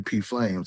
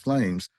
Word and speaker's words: PFlames: first started calling me P Flames. I'm like, no, it's pronounced Flames because the P is still free, and you know, all